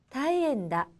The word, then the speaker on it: 大変だ: 즈기, 다이엔다.